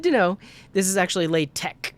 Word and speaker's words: LaTeX: the word uh enough to know that it's pronounced that way but it's good to know this is actually lay tech not latex latex um and pomodoro only has one r